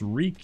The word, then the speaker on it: wreak: show of dominance is wreak it rhymes with leek weak meek cheek cheek upper chic oh well